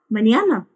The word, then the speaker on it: mañana: And the next one is hasta mañana. Hasta mañana. Be careful with this N. There is a small accent on it, which sounds like when you put N and Y together. Nyo. Hasta mañana.